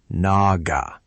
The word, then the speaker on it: Naga: Pronunciation. Absara is Absara, and Naga is Naga.